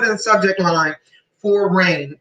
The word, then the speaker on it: Reign: the subject line for Rain. Her name is spelled REIGN. Rain like a queen.